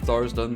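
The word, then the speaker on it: Tharizdun: Old One is representing Thars Dun, Thars Dun, however you want to say it. I believe Thars Dun, though, is the way to pronounce it.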